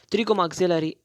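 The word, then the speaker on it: pterygomaxillary: it chilly go maxillary the P is silent trigger maxillary not or ham or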